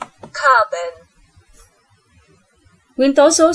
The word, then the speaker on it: carbon: Chúng ta đọc nó là lơ lớ giữa chữ bần với chữ bền.